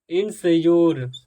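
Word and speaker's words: insure: क्या कह रहा है यदि किसी वर्ड में यू आरई एक साथ आता है ठीक समझिए यू आरई एक साथ आता है तो इसी यू आरई को योर योर प्रोनाउंस किया जाता है जैसे इंसर क्या किया जाएगा एंस इनस योर इनस योर ठीक इनोर मतलब क्या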